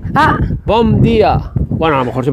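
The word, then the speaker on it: Bom dia: gaviota aquella es Portugal sí día se dice Bom día Bom no bía bom bom b o m Ah Bom día bueno a lo mejor se pronuncia como has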